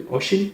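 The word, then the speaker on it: Oisín: My name is Oshin. Oshin, yeah. So how do you write it? Like when I ask someone, okay, kindly, can you spell what is Oshin?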